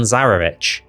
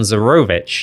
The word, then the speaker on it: Zarovich: So, let's talk about Strahd von Zarovich. Or is it Strahd von Zarovich? You might have heard me bounce between the two pronunciations in my videos. Technically, officially, it's both.